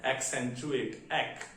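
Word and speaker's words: accentuate: इसका प्रोनाउंसिएशन है एक्सेंचुएट, एक्सेंचुएट। First सी का कहलाएगा और सेकंड सी सा कहलाएगा, एक्सेंचुएट।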